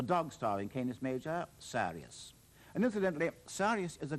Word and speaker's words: Sirius: star in Canis Major, Sirius. And incidentally, Sirius is a Greek name, not an Arab one, and I'm told it really should be Sirius, not Sirius.